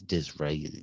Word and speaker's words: Disraeli: In 1867, Gladstone became the leader of the Liberal, his arch rival, Disraeli. I think it's Disraeli. Yeah, Disraeli.